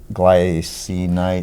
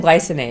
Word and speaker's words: glycinate: glycinite. Oh no, magnesium glycinate.